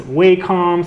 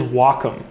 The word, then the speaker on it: Wacom: all say walkom now everyone says wcom sometime some people say wack or Wacom but it is Wacom so um I don't